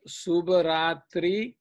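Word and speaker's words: शुभरात्रिः: So this is how you have to pronounce it. Subharatrihi.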